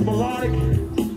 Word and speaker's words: Melodiq: Once again, my name is Melodic. That's spelled M-E-L-O-D-I-Q.